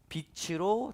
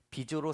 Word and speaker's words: 빛으로: 원래는 어둠에 있었지만 그 자리가 바뀌어서 빛으로 다니게 된다는 것이죠. 그래서 여러분, 발음을 잘해야 됩니다. 비조로 살면 안 됩니다.